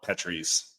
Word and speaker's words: Petrie's: Oh, and also thank you for pronouncing it correctly. I didn't have to correct you on anything. So. The Petries. Yep. We are not a petri dish.